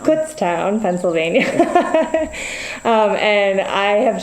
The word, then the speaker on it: Kutztown: is that how you say it we we pronounce it Kutztown Kutztown Pennsylvania um and I have just spent the